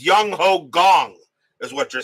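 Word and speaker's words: Jung Ho Kang: Second pronunciation is correct. So it's Young Ho Gong is what you're saying.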